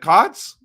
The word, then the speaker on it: Cootes: Okay, let's talk about Coates. Is it Coyotes? Let me just see. I wrote it down better. Cots. Is it Cots?